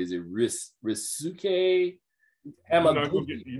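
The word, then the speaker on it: Ryusuke Hamaguchi: I'm seeing if I'm pronouncing this correctly. Is it Risuke Hamaguchi? You're not gonna get me to do it. Okay. Risuke Hamaguchi for Drive My Car, and Paul Thomas Anderson for Licorice Pizza.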